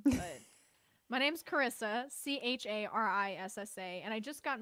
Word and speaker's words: Charissa: First question, Charissa. Is that your given name? It is my given name. It is, with a silent H in it.